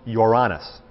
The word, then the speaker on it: Uranus: Strictly speaking, it's pronounced Uranus, is the pronunciation.